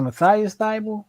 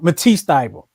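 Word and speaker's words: Matisse Thybulle: Was it Matthias Thibault? What's his name? I thought I'm getting his name wrong. Matisse Thibault. Matisse Thibault's his name.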